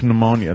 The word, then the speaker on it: pneumonia: that's how it's pronounced pneumonia there's a p in front of course you say